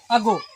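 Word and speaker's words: ago: में ए लगा रहे, तो इस स्थिति में प्राय ए का उच्चारण अ होता है।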